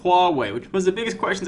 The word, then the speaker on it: Huawei: It's Hua, as in Hua, Hua, Hua, and Wei as in go that way.